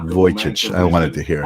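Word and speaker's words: Vujicic: He's a remarkable Voyage. I wanted to hear how it's pronounced more than a decade ago.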